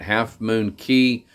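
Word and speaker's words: Half Moon Cay: what's that Island Again Half Moon K Half Moon K Half Moon K some people pronounce it half moon key uh so any rate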